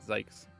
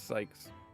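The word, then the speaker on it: Zieks: I know that it's spelled Zekes, but I think it's meant to rhyme with yikes. Therefore, I pronounce it zees. Actually, it's Sykes.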